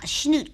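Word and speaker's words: Chanute: what's your town uh snoot Kansas you have to sneeze it when you say it spell it c h n u t e sheno uhuh sheno I don't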